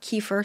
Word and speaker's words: kefir: has been homemade water kefir if you're not familiar with it i just learned about it too it's um you use these kefir grains or kefir some people pronounce it kefir but you use these